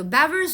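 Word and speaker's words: Weber: 이게 왜냐면 그 독일이니어가지고 지금 위에서 나온 것처럼 다른 독일 그런 사람이어 가지고이 W가 B처럼 발음이 되거든요. 그래서 beber이라고 발음을 해 볼게요. 그래서이 사람이 discovered beber law라고 하는 것을 만들었대요.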